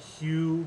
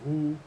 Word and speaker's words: HU: that they do that they call it hue but it's just some white person mispronouncing who which was in the